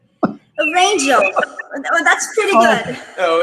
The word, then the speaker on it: Rangel: Rangel. Oh, that's pretty good. Oh, yeah. You know, I made it sound a little mispronounced, but you pronounced Burgin perfectly.